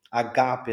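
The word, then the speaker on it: ἀγάπη: A primeira logos na logo na primeira sílaba, a gape na segunda sílaba e aqui nós temos matetes. Matetes que é na última sílaba atônima.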